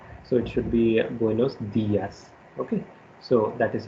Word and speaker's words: buenos días: in the sense that when you put accent mark, you have to give stress on that particular letter. So it should be Buenos Dias.